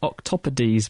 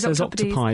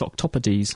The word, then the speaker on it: octopodes: was the correct word is that how you pronounce it I thought it was octopodes octopodes es is ease yes I thought octopod sound fun all right say octopi don't they but wrong caus C's wrong I think CU it's